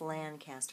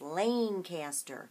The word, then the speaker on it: Lancaster: Or she told me it's not pronounced Lancaster, it's pronounced Lancaster.